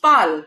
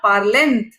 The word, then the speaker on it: parlent: It is pronounced PAL because E is the last vowel in this word. There's no vowel after that. ENT. It is not parlent. It is PAL.